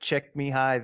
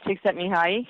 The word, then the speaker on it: Csikszentmihalyi: I really looked in a lot to, Martin Seligman and I can never pronounce his name, but Csikszentmihalyi, the guy that talks about flow. Yeah, Mihai Csikszentmihalyi.